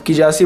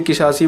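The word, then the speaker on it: Kizashi: अब किजासी बोलिए किसासी बोलिए, वैसे इसका नाम किजासी है, तो इसमें जेड थोड़ा साइलेंट हो जाता है।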